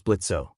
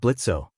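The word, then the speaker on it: Blitzø: He that sounds like Blitzo. The imp says the O is silent, but Blitz growls out, "He, I knew it was you, man.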